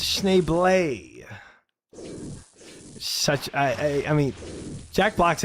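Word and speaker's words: Schneebly: It's pronounced Schneeblay.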